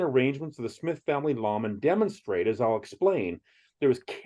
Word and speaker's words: lamen: Well, a lamen, not to be confused with nor pronounced like layman in the Book of Mormon, is a sacred image